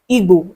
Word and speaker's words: Igbo: certain words, like Igbo is pronounced Igbo and not Igbo.